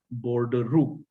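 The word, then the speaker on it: bordereau: bold rule now this this is a french word and it is pronounced as border rule i mean honestly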